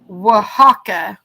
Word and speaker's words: Oaxaca: how you spell it oh you actually said it's pronounced Oaxaca Oaxaca cheese now I